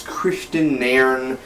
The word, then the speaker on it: Kristian Nairn: hod Christian narn or narn uh I totally butcher the name if I did it's Christian narn uh so let's get right to it hod